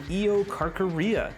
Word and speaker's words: Eocarcharia: This first one, I believe, is pronounced the Eocarcharia.